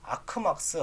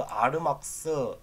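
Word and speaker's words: argmax: 그럴 때는요, MP, 그다음에 요거를 뭐 아크막스, 아르막스, 뭐 아규먼트 막스, 맥스 뭐 이렇게 뭐 쓰는데 저는 그냥 아크맥스라고 읽겠습니다.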